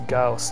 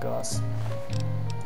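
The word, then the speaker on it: Gauss: uhhuh there we go I'm pronouncing It Wrong by the way it's gaus it's not gos doctor's good good stimpack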